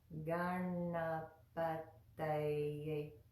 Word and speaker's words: Gaṇapataye: to make by placing our tongue at the back of our front teeth and then drawing it away. So it goes like this. Ta, ta, ta, ta, ta. Good. So that whole word is pronounced like this.